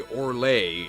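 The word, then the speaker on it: Orlaith: Similarly, Orlay is Orla.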